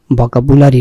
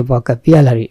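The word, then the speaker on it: vocabulary: মানে হচ্ছে শব্দ ভান্ডার কিন্তু এর উচ্চারণটি খেয়াল করবেন ভোকাবুলারি নয় ভোকাবিউলারি বলতে পারেন আরো কারেক্ট হচ্ছে ভোকাবিয়ালারি learn learner learning learning style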